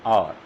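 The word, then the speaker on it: hour: Next, I have been waiting for half an आवर, इसकी sound क्या होगी, और H साइलेंट होगा यहाँ पर भी, तो इसके साथ भी हम किसका यूज़ करेंगे, N का।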